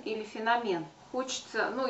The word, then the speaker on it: феномен: это слово и а у саши лов ударение на третий слог феномен но оказывается феномен говорить неправильные все-таки те кто говорят феномен а что тоже приходится слышать довольно часто может быть это 50 на 50 но все таки мне кажется большинство говорить неправильно феномен но все-таки нужно говорить феномен запомнить пятый пункт кулинария